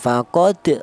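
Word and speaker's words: فقد: Kemudian ya faqad cara bacanya dipantulkan faqod dolla seperti itu.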